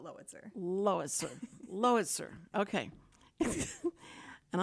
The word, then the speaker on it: Lowitzer: me the what to compare it to like Howitzer Howitzer spelled like Howitzer but lowitzer Lois Lois sir okay